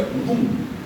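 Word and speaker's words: לון: No hebraico, o verbo li, ou lum, né? Se pronuncia lum, resmungar, reclamar, murmurar.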